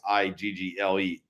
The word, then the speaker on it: eagle: I guess it starts EA, but I say it like it's IGGLE, eagle. So I guess I say that funny, but anyways, that was a good one.